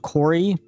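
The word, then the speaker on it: Koury: And he he actually bows to you and he introduces himself as Kamuzu Corey. That is spelled K O U R Y.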